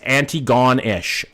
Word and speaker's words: Antigonish: Fucking horrible at pronunciations, okay? By the way, it's Antigone-ish.